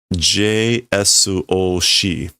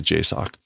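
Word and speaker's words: JSOC: So they're saying the pronunciation for this is J Su Oi. So like J S O C. But that's not how you pronounce this. You you just say J sock.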